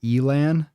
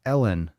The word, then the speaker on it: Ellen: They pronounce it Elan. No way. It's Ellen. Right? How do they pronounce it Elon?